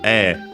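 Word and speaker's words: ええ: I think I mentioned before also another one which is e should be also accent on the first syllable.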